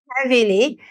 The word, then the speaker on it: heavily: Now here it says, in the words dreadful, that, heavily, the combination of the vowel E and A is pronounced like the way the vowel E is pronounced in bed.